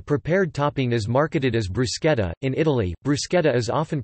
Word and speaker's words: bruschetta: In Italian and non-English speaking countries, bruschetta is pronounced bruschetta.